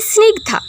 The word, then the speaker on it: স্নিগ্ধা: তো আজকে চলে আসি স্নিগধা। সনিগধা তিনি জানতে চেয়েছিলেন উচ্চারণটা কিভাবে হবে।